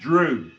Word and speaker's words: dry: Bosworth gives dry, pronounced drew, as the Anglo-Saxon for a magician, sorcerer, druid, probably with the old Celts.